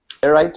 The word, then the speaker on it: sclerite: Yeah, just so you guys know, the proper pronunciation is sclerite.